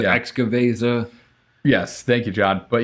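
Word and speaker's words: Xocoveza: I'm going to say it wrong, but the Waka Vesa, which is their it's like a cocoa nib, ancho chili, imperial stout. Zokaveza, there you go. Wakaveza, Yeah. Excaveza.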